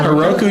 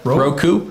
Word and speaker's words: Roku: Yeah, that Heroku TV or not Heroku, Roku TV, that live channel. You do I don't even know how to pronounce Ro what? Roku.